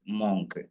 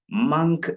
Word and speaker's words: മങ്ക്: എല്ലാവരും വായിക്കാറുള്ളത് മോങ്ങ്ക് എന്നാൽ ഇത് മോങ്ങ്ക് എന്ന് വായിക്കരുത് മങ്ക് എന്ന് വായിക്കണം ഓക്കേ തെറ്റ് എന്താണെന്ന് നിങ്ങൾക്ക് പറഞ്ഞു തന്നു ശരി എന്താണെന്നും പറഞ്ഞു തന്നു ഓക്കേ അപ്പൊ നിങ്ങള് റൈറ്റ് ആയിട്ടുള്ള പ്രൊനൗൺസിയേഷൻ ഫോളോ ചെയ്യുക മങ്ക് ഇവിടെ ഓ എന്നുള്ള ഭാഗത്താണ് നമുക്ക് എന്ത് ചെയ്യേണ്ടത് ചേഞ്ച് വരുത്തേണ്ടത് അപ്പൊ ഓ എന്നുള്ള ഭാഗത്ത് ആ എന്നുള്ള ശബ്ദമാണ് വേണ്ടത് ഓ എന്നുള്ള ശബ്ദം അല്ല വേണ്ടത് അ മങ്ക് മങ്ക് ഒന്ന്